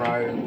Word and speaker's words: Ryu: I've always liked to do the spinning kick that Ken and Ryu both have, or Ryu, however you say his name.